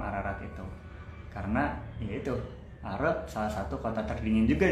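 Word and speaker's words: Ağrı: Jadi tulisannya Are itu bukan ARE tapi AGRI. Tapi karena di Turki ada G yang ada titik atau tanda petik di atasnya, itu adalah dibacanya GU Musyafir. Jadinya kayak nggak terlalu dibaca gitu. Jadi kita bilangnya Are.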